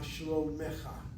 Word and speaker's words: שלומך: Okay, ma shlomecha. Or is it מה שלומך? Okay, you read it as ma shlomecha this time. Yeah. But it should be a shfana underneath the mem. Ma shlomecha. Shlomecha, not mecha.